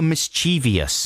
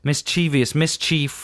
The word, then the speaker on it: mischievous: Well, I mean, that's not how you pronounce Mischievous. Mischievous? Mischievous, mischief. I'd say it's flexible depending on where you come from. No. Mischievous. Not flexible. Mischievous is the word.